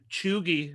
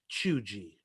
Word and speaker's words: chuegy: old man i found out that i was pronouncing chugi wrong it's actually pronounced chugi and it's even worse because i found out